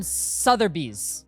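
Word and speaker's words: Sotheby's: It's RM Sutherbees.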